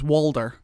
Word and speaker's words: Walder: And what's funny as well, in like the books and stuff, his actual name is Walder, and no one knows why he just started saying Hodor, and people just call him Hodor.